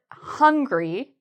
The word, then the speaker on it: hungry: So as I mentioned, people sometimes add an H to angry. And then with the word hungry, they sometimes forget the H.